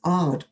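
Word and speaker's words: Aad: But interestingly, that paper, the one that held the record, it's always referred to as Ard et al.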